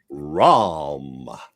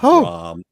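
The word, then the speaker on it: Rarum: who do we appreciate somebody might think it was ROM r o m you know like off the C off by crom ROM which is space night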